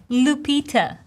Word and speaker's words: Lupita: And in the end, we have the schwa, this neutral, Lupita.